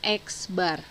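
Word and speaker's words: x̄: maka menentukan rataannya ini notasi rataan dituliskan X pakai garis di atasnya dibacanya eksbar eksbar itu rumusnya sama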